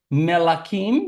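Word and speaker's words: מלכים: de los reyes Entonces tenemos melim melim Sí así se dice Reyes otra vez tenemos la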